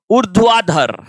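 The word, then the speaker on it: ऊर्ध्वाधर: ये जो र है ना इस र का उच्चारण इस ध से भी पहले होगा। उर्ध्वाधर क्या बोलेंगे अपन उर्ध्वाधर फिर देखिए क्वथन धन अंक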